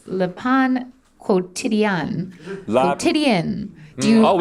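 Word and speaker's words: Le Pain Quotidien: Is it La Pan Quantidang? Yeah. Although there's a new trick that Carney taught me, so it's Le Pan Quotidien.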